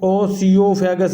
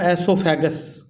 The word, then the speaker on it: esophagus: इसको ओसियोफेगस नहीं पढ़ना बेटा, एसोफेगस इसको पढ़ना है, ठीक है, जैसे मैं बोल रहा हूँ। स्पेलिंग आपने इसके अच्छे से याद रख लेने हैं, ESOPHAGUS, और पढ़ेंगे इसको एसोफेगस, ठीक है।